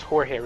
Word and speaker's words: Jorge: all the time okay my name's jorit right and it's spelled j o r g e but I have huh it's not George George no no no it's not even that I get George it's